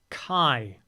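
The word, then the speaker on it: 改: A kanji that is pronounced as Kai.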